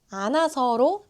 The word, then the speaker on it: 않아서: 첫 번째는 사라지는 흐입니다. 히웃은 공기 소리라서 아주 약해요. 그래서 문장 중간에 오면 자주 생략돼요. 익숙하지 않아서 그래요. 보세요. 아서 그니까 안아서로 들리죠. 히 발음을 굳이 살리려고 노력하지 않으셔도 돼요. 힘을 빼고 안아서라고 하면 훨씬 자연스러워요.